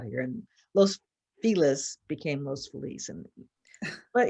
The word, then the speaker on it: Los Feliz: called Los Feliz, but it looks like Feliz because that's how. And it's like, no, it's Los Feliz.